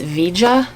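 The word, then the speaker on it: Veja: of excited about these i had to look up how to pronounce the brand v-e-j-a and i just looked it up and it's vija yeah these are size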